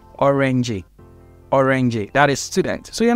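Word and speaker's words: öğrenci: this G then next you're not going to pronounce the G you're going to prolong the vowel after that g so an example is there is a word called orange orangey that is student so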